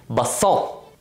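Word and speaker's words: basson: English it's spelled b-a-s-s-o-o-n in French it's called the same thing but it's missing an S and it's pronounced basalt however the bassoon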